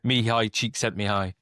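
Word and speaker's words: Csikszentmihalyi: So me high cheek sent me high.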